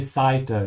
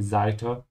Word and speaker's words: Seite: You can also say Seite, yeah? In southern Germany or Austria, you could hear that. But we're using the northern pronunciation here, that's why I say Seite. It's more common on TV to see that.